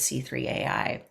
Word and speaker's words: C3.ai: Is it C3AI or do they say C3.ai? I have questions. I looked it up. It's C3 dot. C3PO. Yes. Yes. That's how they say it.